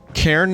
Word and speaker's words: cairn: That's me saying cairn. How do you say that? K-C-A-I-R-N. It sounds like I'm saying Karen with a Midwest accent.